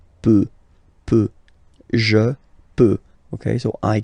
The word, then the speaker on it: peut: Then il, elle, peut, so you will put T at the end, you don't pronounce it. Il peut, elle peut.